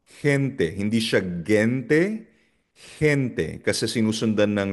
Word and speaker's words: gente: Gusto gusto nagiging soft G or parang tunog na h or H sa English na house kapag ang letter G ay sinusundan ng E or I. So for example, hente.